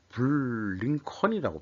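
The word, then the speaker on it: Blinken: 그래서 이제 블링컨이라고 발음하게 돼.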